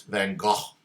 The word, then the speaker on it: van Gogh: go what fangirl vincent van gogh thank you very much or i think in dutch it's van gaal thank god i was at the museum and i was corrected on the pronunciation i find dutch very